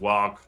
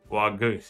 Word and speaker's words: Waaagh: I believe it's pronounced wag like you aspirate the h. I need someone to tell me the correct pronunciation wag. I think I think it's it's silent. It's like w.